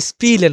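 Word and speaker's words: spielen: হবে এগুলো কি আপনাদের যখন এসপে যখন আপনি বসাবেন কোন শব্দের বাক্য শুরুতে তখন কি তালবেশ এবং প এর মত উচ্চারণটা নিয়ে আসবেন যেমন এখানে দেছে কি এখানে যদি ইটা না থাকতো তাহলে কি হইতো এস পেলেন এসপেলেন হতো এখন ইটা দা কি হছেপি স্পি লেন হইছে ই টা যুক্ত হয়েছে এই জায়গায় স্পিলেন এটা হচ্ছে খেলাধুলা করা এবং যখন এস প্লুস টে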